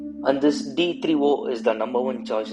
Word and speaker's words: D3O: my dear friends and this is called d3o and not d30 please take it from me because i've seen so many people pronouncing this as d30 and not as d3o so please correct it